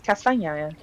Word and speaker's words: Kasvanaya: Kasvanaya. Yes. Okay. That is how it is pronounced. It's Kasvanaya.